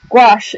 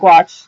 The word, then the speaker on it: gouache: other types of watercolor gouache is also spelled g-o-u-a-c-h-e um but i pronounce it watch others may pronounce it differently um but this is